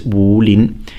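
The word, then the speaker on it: 武林: It's Wolin. It's third and second.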